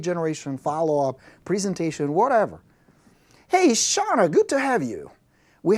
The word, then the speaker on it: Shauna: So I hope it's Shauna, not Shana. Shauna, right?